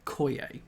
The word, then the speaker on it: coyer: So that's coyer, which of course you say to match, pronounce with foyer, coyer.